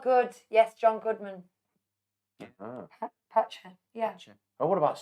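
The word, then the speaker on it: Pacha: Patcher.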